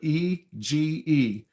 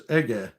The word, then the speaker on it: Ege: That sounds like how hard can that be, but I think that's Turkish and originated from Turkey, and I think the pronunciation is Ege, not Eg, which is what my inclination would be to say.